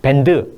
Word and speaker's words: bend: 근데 말씀드렸듯이 bend 이 음절이 아니에요. 이음절이에요. 영어에서는 bend. 그렇기 때문에 여기랑 슬쩍 사라지는 D 발음은 여기랑 연결돼 가지고 let's bend the curve 이렇게 됩니다.